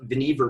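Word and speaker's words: Vannevar: is a photo of veneever bush name rhymes with beaver no relation to other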